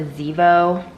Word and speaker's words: Zevo: I think it's that time of year to pull out the Zevo. That's how you pronounce it.